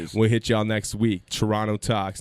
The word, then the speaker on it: Turono: Turono Talks, and don't pronounce the T, motherfucker. Turono Talks, baby.